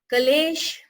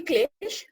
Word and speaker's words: klesha: So Klesh, it is actually Klesh, but Kales, the way you pronounce it, it's written in Avadhi as Kales.